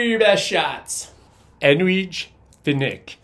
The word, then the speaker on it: Edwige Fenech: Now, I've heard it pronounced Finish. However, when I watch extras, all the folks that knew her always say Finish. So I'm going to say Edwige Fenech. That's what I'm rolling with.